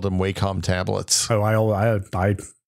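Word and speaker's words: Wacom: said that just now I thought it was waycom the the the preferred pronunciation by the by the vendor was always whack interesting which is a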